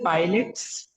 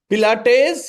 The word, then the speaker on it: Pilates: Sir, pilots. Pilates, yeah, that is the Yes, right sir. answer. Pilates is how it's pronounced.